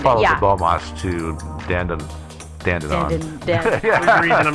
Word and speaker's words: Dandenong: Actually, they're like the Australians are like the Brits, and so it's probably pronounced dong.